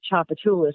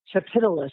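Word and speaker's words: Tchoupitoulas: Like it'll say, instead of Chapatulas, which by the way starts with a T, it'll say Chapitulus or something crazy.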